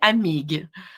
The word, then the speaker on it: Amigues: say the full name it's Dr Amigo yeah you got it we don't pronounce the ues but honestly even in